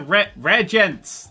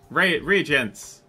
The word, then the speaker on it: reagents: These are rare gents. These are rare gents. They don't harass people. No, these are... How do you pronounce that? Reagents.